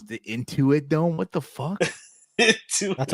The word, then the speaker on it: Intuit: The Inuit? it was wow. What the fuck is that? What's the okay? How do you pronounce it? Inuit, Into it. Into it. the Intuit. I'm sorry, the Intuit Dome.